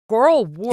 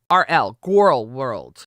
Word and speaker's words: Gorl World: So Girl World. Is it Girl World? Am I saying it right? Girl World? No, Gorl. Gorl. Gorl World.